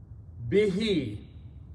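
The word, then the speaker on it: بِهِ: Bihi, with it. Bihi means, be, with, and it, he means who, means it, but when you pronounce, this who is pronounced as he, so it becomes bihi, with it.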